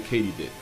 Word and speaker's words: katydid: a sub family of the katydid which is apparently how you pronounce it not only was i